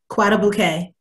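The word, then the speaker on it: Guadeloupe: Can you pronounce it for me? My apologies. Guadalupe.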